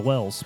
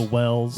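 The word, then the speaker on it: Wels: is the Wells. Yeah, or Vells, I suppose would be the proper pronunciation. Considering where all this came from, I'm assuming that the W would be pronounced like a V.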